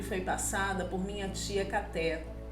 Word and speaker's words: Caté: Ela é parecida com a que me foi passada por minha tia Caté. Pronuncia-se Kate, que vivia em Sibrak, perto de Dombovar, na Hungria.